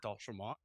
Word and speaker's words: D'Entremont: You, I love hearing the French way to pronounce it - D'Entremont.